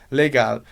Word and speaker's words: legal: palavra legal por exemplo legal em alemão Se a gente fosse pronunciar de um jeito bem alemão a gente diria legar legal você não tem esse são bem presente ai ai lá no final exatamente isso que a